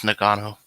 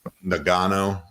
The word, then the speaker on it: Ngannou: How do you pronounce his name? Francis Ngannou. Ngannou.